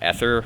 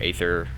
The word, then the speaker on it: Aether: out here is called the uh ether or aether ether it's got multiple pronunciations though i'm out here right